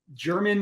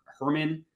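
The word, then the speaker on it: Germán: The guy, his name's like German Marquez. I'm probably mispronouncing his name. Maybe it's like Herman, I think. Marquez. It's the way of spelling Herman.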